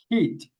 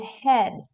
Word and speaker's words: head: And we are going to say heat. Is that correct? What do you think guys? It head. Okay. That's right. In this word, this is the part of the of the body. No, the head. The head. We pronounce this e a like e. In the first case, we pronounce e a like e. In this case, we pronounce like e.